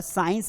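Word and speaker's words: science: और साइंस में भी यहाँ पर सी क्या है, वो साइलेंट है।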